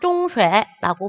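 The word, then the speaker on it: 中学: 중국에서는 중고를 합쳐서 중학, 중쉐라고 발음을 합니다.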